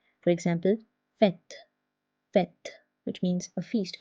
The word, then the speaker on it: fête: I, O, U, and there is no change in the pronunciation except for the letter E, which is pronounced as E, just like l'accent grave. So when it's placed on E, the pronunciation becomes E.